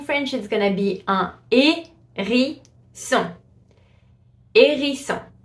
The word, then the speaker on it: hérisson: A hedgehog in French is gonna be un hérisson. Hérisson. So you see the H is completely silent. You just pronounce the A with the accent.